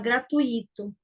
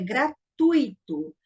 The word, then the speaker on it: gratuito: A palavra correta, a pronúncia correta dessa palavra é gratuito. Então, quando eu falo gratuito, essa palavra aqui, ó, ela é uma paroxítona, porque a pronúncia correta dela é gratuito.